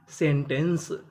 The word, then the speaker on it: सेंटेंस: यानी आपको कहीं पर इ एन सी ई लिखा मिले तो आपको पढ़ना है एंस। जैसे एस इ एन T Saint. A एन सी ई एंस। तो मीनिंग बन गई सेंटेंस।